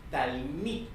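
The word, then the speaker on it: תלמיד: Se lee talmid. Y en plural o en singular se lee talmidim.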